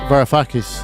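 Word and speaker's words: Varoufakis: I'm actually more concerned with uh there's an economist called Yanis Varafakis I think is is how you pronounce his name.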